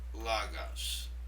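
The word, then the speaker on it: λόγος: And you'll notice here the acute accent in the word logos, right over the omicron. It simply means that syllable is stressed. Logos. Did you hear how I stressed the first syllable?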